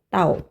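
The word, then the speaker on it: 倒: 따오라는이 글자 정답 3번입니다 파인 이양 발음이 같아요 따오 그죠 따로 발음 같죠 그래서 소이스 그래서이 복자는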